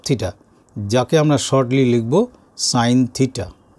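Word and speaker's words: sine: সাইন of theta, যাকে আমরা shortly লিখব সাইন থিটা। এটার pronunciation সাইন theta, not seen theta.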